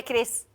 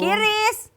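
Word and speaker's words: QRIS: Tapi bisa nggak bayar pakai kris? Ayo tau nggak kris? Apaan tuh? Kiris. Bacanya bukan kiris loh sekarang. Kris bacanya tuh gitu.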